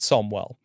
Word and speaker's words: Samuel: That's that's they say, "Dear BS boys, Joel Jackson and Zamet, my name is Samuel, pronounced Somwell.